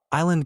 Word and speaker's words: island: Island got a silent S inserted because someone incorrectly thought it was related to the Latin insula.